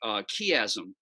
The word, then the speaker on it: chiasm: I'm not sure, but something called a chiasm. I don't know if you guys have talked about I chiasms always pronounce before.